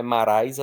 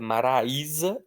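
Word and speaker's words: Maraísa: Ele é a parte forte da palavra, porque não é maraisa, não é maraisá, é maraía.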